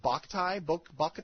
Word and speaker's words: Boktai: I don't even know how you pronounce it. Boktai? That sounds good to me. Boktai, yeah.